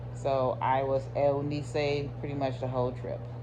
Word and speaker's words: Eunice: So my name is Eunice, and the Hispanic way of pronouncing it is Eunice. So I was Eunice pretty much the whole trip.